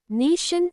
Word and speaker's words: nation: In the word nation, the second part, tn, is unstressed. The vowel o in that part doesn't sound like o or a, it sounds like a soft un. That shan ending is where the schwa, schwa sound appears.